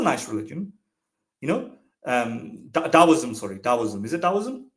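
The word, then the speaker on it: Taoism: deism that's a nice religion you know um Dowism sorry Daisoism is it Dowism am I pronouncing it correctly Dowism yes dowism I would love I would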